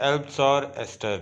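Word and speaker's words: Eleanor Estes: इसको लिखा है एल्बसॉर एस्टर ने। थोड़ा सा यूनिक सा नेम है, एल्बसॉर एस्टर। इसको प्रोनाउंस करने में भी आप लोगों को बी जैसे इसमें साइलेंट हो जाएगा, एल्बसॉर एस्टर।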